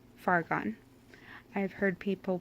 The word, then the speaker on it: Fargon: So I just say Fargon. I've heard people pronounce it Faragon, which I really like, and I did consider